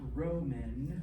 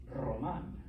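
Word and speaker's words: Román: It's not Roman or Roman. It's Roman. Okay. You got to get that R roll.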